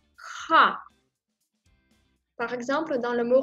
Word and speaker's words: х: Une lettre un peu spéciale, ce son n'existe pas en français, voilà pourquoi c'est un petit peu difficile à prononcer cette lettre, ha. Elle est proche de R, un porte par exemple, mais cette lettre, il faut prononcer plus doux avec le fond de la gorge, ha.